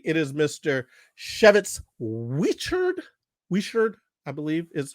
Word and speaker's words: Whichard: it right but if you are wondering it's pronounced Chev it's we shirt he's from Alexandria Virginia his comedy is unique